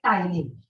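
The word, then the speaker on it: ptyalin: दूसरा नाम क्या है टाइलिन प साइलेंट है ये दिख रहा है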